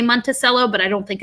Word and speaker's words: Monticello: the whole the whole montello as a whole monticello oh it's pronounced like that monticello interesting um but he describes it as um